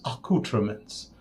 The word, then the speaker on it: Accoutrements: But that's the good thing about, the Fine Accoutrements, pronounced according to Todd Cerami as Accoutrements.